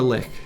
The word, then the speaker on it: lich: makes sense he's a lich exactly he is indeed a lich or lick as it's te technically pronounced but that bothers me I want it to be pronounced Lich so I could if